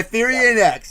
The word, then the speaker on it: Thirion X: Let's just say the newest release, the first release, full length, by Thirion X. There you go. That's the proper way to say it.